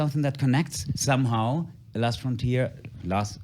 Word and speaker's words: von Trier: de alguna forma, Lars von Trier... Lars... Siempre pronuncio Lars FROM Trier por que en alemán "von" es "from (de)" pero en realidad es Von Trier.